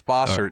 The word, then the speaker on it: Bossert: David, am I pronouncing your last name correctly? Yes, you are, and I appreciate it. It's Bosert.